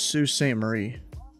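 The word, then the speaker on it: Sault Ste. Marie: it was different than how it's actually typed Sue St Marie I think that's it yeah cuz I heard an actual Canadian pronounced that one time it's Sue St Marie they say guys donate hundreds of dollars even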